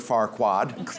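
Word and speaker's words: Farquaad: Lord Lord Farquad.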